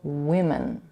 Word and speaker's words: women: In the singular form, woman, the first vowel is a laxed u, and the plural form is a laxed I. Again, singular, woman, plural, women.